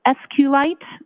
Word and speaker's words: SQLite: lower K's it and sqlite uh is also commonly pronounced as SQ light so both pronunciations are acceptable now once you received